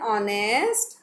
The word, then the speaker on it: honest: Give attention to the pronunciation of sound. Sheila is dash honest girl. What will come here? Sheila is an honest girl.